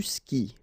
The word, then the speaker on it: skis: And then, tu skis. Exactly the same thing, even if you get this s. Well, actually, the is mute. You don't pronounce it, so you don't pronounce the final s either.